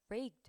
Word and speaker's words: raked: 이제 앞에 K가 놓여 있다 보니까 뒤에 붙은 요 raked ed가 t로 발음이 되겠죠. 그래서 raked가 아니라 raked. raked 이렇게 발음이 된 거고 동사로 rake는 여러분 뭘 뜻해요?